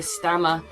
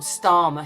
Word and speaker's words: Starmer: Allison Hammond with K stammer it doesn't come or starma should I say whoops I should say starma i' probably said his